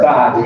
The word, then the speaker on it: Gad: It'd be like God, right? God, yeah. That's how you say it.